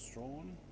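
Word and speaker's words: Strahan: a little village called Strawn, or Strawn as it's spelt, but it's Strawn apparently.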